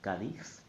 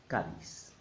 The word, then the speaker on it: Cádiz: There are only two possible correct pronunciations. The Castilian one, Cádiz, and the Latin American one, Cádiz.